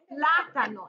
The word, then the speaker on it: plátano: Well, the Spanish word has the accent, which is el plátano. It has an accent on the first A.